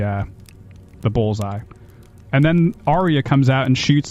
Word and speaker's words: Arya: out that's Arya later is that how you pronounce it Arya Aria Arya Arya yes okay and then we go